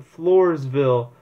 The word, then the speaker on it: Floresville: in the floor the Floresville Flores I think that's how you pronounce it it's a Spanish name Flores ville southeast of San Antonio